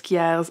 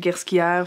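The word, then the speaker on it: Ghesquière: departure you have nicolas quiere's arrival to the house by the way i pronounced it gerschia for like the whole time just now it's smooth j everyone just fyi so nikolai didn't only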